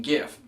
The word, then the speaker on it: GIF: But Steve Wilhite, the creator of this acronym, insists on it being pronounced like the peanut butter. So you can pronounce it GIF if you'd like to, but I'm not going to change my ways because that looks like a hard G to me.